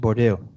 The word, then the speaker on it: Bordeaux: He hates to be called Bordeaux. It's actually Bordeaux.